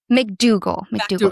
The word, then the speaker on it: MacDougall: MacDougall.